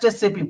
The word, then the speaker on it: SAP: very important point, that people always says that it's SAP, SAP, SAP. Don't pronounce it SAP. It is just SAP, boss.